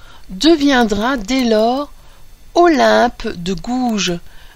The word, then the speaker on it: Gouges: dès lors Olympe de gouge alors gouge cette fois-ci ça s'écrit g o u g e s je pense que là